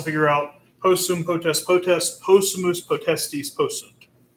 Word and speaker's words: possumus: Possumus, you notice there's an accent there at the beginning to tell us how to pronounce that. Possumus, we can.